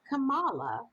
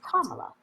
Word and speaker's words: Kamala: So for all of our fans and viewers out there, even for our critics, it's not Kamala, it's Kamala.